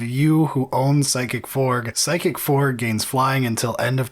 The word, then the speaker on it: Psychic Frog: I'm glad that you pronounced the G pretty well, because first time you said it was Psychic Fork, and I was like, I don't know what a Psychic Fork is, man.